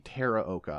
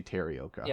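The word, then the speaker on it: Teraoka: It's Kenji Terraoka. I always want to say Taraoka.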